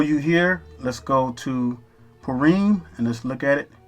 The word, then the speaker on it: Purim: So it's pronounced the same way. Purim.